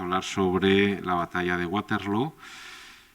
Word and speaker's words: Waterloo: hoy vamos a hablar sobre la batalla de waterlow y digo bien waterlow porque se dice a